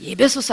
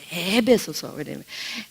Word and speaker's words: 에베소서: 그래서 예배소서 아니고요, 에베소서.